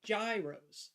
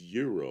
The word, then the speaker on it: gyro: not know called it Gyros so anything else sounds strange to me well see and I was told it was Euro like almost like European but like almost a j Euro and so I've tried